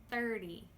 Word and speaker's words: thirty: But listen to the T in thirty. Thirdy. The T here I am actually making more of a D sound! Like Dog! Duh Duh. Thirty. It's a little bit sneaky. We have a sneaky D in here.